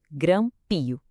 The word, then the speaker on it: grampio: É porque a força da pronúncia está no começo, grampio.